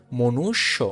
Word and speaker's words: মনুষ্য: এখন কথা হচ্ছে, জফলা যদি থাকে, এই জফলা থাকলে ওই শব্দটা যে শব্দের সাথে থাকবে সেই শব্দটা দুইবার উচ্চারণ হবে। যেমন মূর্ধন্য স সাথে ছিল, সেক্ষেত্রে এটা দুইবার উচ্চারণ হয়েছে মনুষ্য। মূর্ধন্য স লাস্টে কিন্তু ও আছে, এই ও থাকার কারণে ওকারটা বসছে। তার মানে সঠিক উচ্চারণ কি? মনুষ্য। সঠিক উচ্চারণ কি?